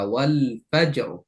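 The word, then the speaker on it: والفجر: যেমন ওয়ালফাজ জিমে কলকলা করে রটা মোটা। ওয়ালফাজ। এখন আমি যদি ওয়ালফাজ বলে রটা পাতলা করি তাহলে এটা ভুল উচ্চারণ হবে।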